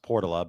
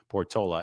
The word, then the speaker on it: Portola: because I know the neighborhood in San Francisco is pronounced Portala, but Portola Valley is pronounced Portola.